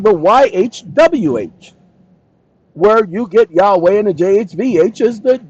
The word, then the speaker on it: Yahweh: I don't correct you when you call him Yahweh because I know that Yahweh is the Hebrew pronunciation of the name.